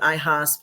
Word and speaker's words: IAHSP: we do pronounce it ihas not like IHOPs like the pancakes but it's a kind